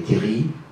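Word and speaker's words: terril: minières, il y a les terries, je ne prononce pas le L dans le nord, etc., les chevalements, etc., mais aussi un style de vie solidaire.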